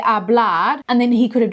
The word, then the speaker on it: hablar: Hablar. Perfect, Charlotte. That looks great. Remember, the H stays silent every time. Just hablar.